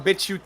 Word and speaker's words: BitChute: We're doing better on BitChute than we've ever done on YouTube. Yeah, and BitChute. Yeah, we know. Yeah, we know what you're thinking. We know what you're thinking. It's pronounced bitch, ute. Ute.